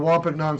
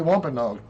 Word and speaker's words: Wampanoag: whatever reason, I can't say Wampanoag. Sounds like eggnog, but different. Wampanoag.